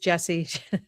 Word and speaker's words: Jessiy: It's IY, but it's pronounced Jesse.